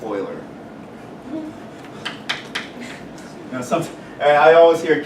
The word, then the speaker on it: Euler: Swiss mathematician Euler okay a lot of people pronounce his name is Bueller no it's Swiss it's pronounced Euler now something I always hear kids come in to tutor say I need help with a Euler's method boilers man okay it's pronounced Euler right